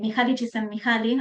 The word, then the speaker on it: Mihaly Csikszentmihalyi: Yo siempre hay una frase que traigo hasta el cansancio para los que me conocen de Mihaly Csikszentmihalyi. Además aprendí a pronunciarlo y me siento muy feliz conmigo misma.